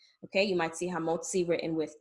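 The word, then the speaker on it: המוציא: middle of a word, it'll sound like the double Z in pizza, okay? That T and that S sound together. In English, it will either be represented as TS or TZ. And again, it's that same T sound that's made by the double Z, as in pizza, or the TS that you have at the end of a word like boots, okay?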